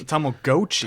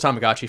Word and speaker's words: Tamagotchi: back tomag goii but honestly in the '90s it was tamagachi for us so you all bro yeah it's too late you can't change how you pronounce something I'm not changing how I pronounce it it's Tom dude in